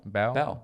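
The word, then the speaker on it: Bao: B-A-O? B-A-O? Yeah, how would you say? Bow? Mm-hmm. I would say bow.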